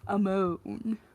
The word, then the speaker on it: Ammon: Ammon my name is Ammon right amone he didn't pronounce it like Ammon his version was a more Swoon inducing amone providing of course that